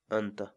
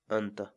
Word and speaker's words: anta: series videos where we teach you how to pronounce certain words in Quechua so our word of the day for today is anta anta anta in English the cats wall word and means